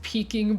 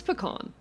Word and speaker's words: pecan: But you know, nobody says peking pie. It's pecan. It's pecan.